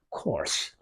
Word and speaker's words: coarse: coarse. 여러분이 이해하고 발음이 똑같죠? course. 과정이라든가 절차라든가 똑같다.